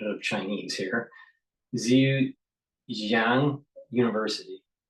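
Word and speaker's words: Zhejiang: orthopedics and has an affiliation with, pardon my pronunciation of Chinese here, Zu Xang University. Zu Zu Jang University, right?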